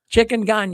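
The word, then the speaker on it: chikungunya: Changonga. I'm not I'm not sure exactly how to pronounce it, but anyways. Chicken. Chicken ga.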